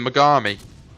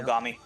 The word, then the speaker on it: Mogami: the if I pronounce it right, the Megami, the Japanese cruiser. Yeah. That's right. Yeah. Mogami.